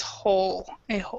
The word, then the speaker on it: whole: is whole oh oh so basically the W is silent so it's whole the whole point ok